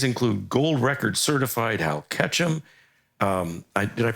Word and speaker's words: Ketchum: These include gold record certified Hal Ketchum. Did I pronounce that right?